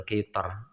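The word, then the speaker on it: قطر: Itu huruf yang bersukun tersebut berupa huruf istila. Maka ra dibaca tebal. Contoh Mim misor. Ainal qithor. Nah. Tho. Dan sho ya. Ainal qithor, mim misor, tho itu huruf istila. Kemudian sho, mim misor itu juga huruf istila. Maka ra nya dia eee tebal.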